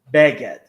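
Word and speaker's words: בגד: In English, you put the stress of a word usually on the last syllable, and in Hebrew you put it in the second to the last syllable. So in you just said beged, and it's beged. So beged, not beged.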